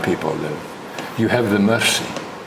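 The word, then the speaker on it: Mursi: And in this area, not far from where the Hammer people live, you have the Mercy. Now the Mercy give no mercy, although their name is spelled M-U-R-S-I.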